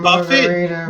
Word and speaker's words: Buffett: Warren Buffett? No, Warren Buffett doesn't sing Margaritaville. Warren Buffett's like a billionaire. You're thinking of Jimmy Buffett. Jimmy Buffett. Yeah. I'm sorry. Girl. Buffett is a Buffett. It's pronounced buffet.